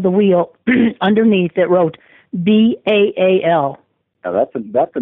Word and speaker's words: Baal: the bottom of the wheel, underneath, it wrote B-A-A-L. Now that's a name that immediately when I saw that, I knew that it was something big, because that's a name, Baal, it's pronounced Baal, is a name that it conveys